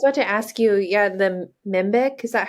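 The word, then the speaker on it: Mhenbic: I was about to ask you, the Mimbic, is that how you say it?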